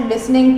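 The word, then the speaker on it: listen: वाई आर यू नॉट लिसनिंग टू मी, मेरी बात क्यों नहीं सुन रहे हो. वाई आर यू नॉट लिसनिंग टू मी, टी इसमें साइलेंट है. लिसन, लिसनिंग टू मी, तुम मेरी बात ध्यान से क्यों नहीं सुन रहे हो.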